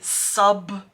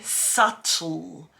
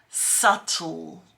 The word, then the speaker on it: subtle: pronounce that yeah so even though it's spelled with a B we don't pronounce the b we don't say subtle no no no no we say subtle subtle that's right and look